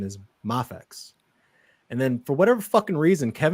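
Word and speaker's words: Mafex: because i know some people say moffat's it's mafix but you know what it's not it's not math x and that's what kevin says math he says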